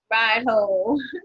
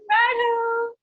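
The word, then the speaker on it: Raidho: Ride. That's how you pronounce it. Ride. Ride ho. Ride ho.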